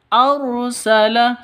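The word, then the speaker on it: أرسل: tangan] haqq arsala rasulahu arsala rnya ro tafkhim tebal ya ro tafkhim harus ditebalkan arsala seperti itu. Bukan arsala tapi arsala seperti itu ya.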